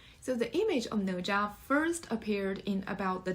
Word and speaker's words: Nezha: So Nezha, pronounced as Nezha. It's kind of difficult to pronounce, I know. Nezha.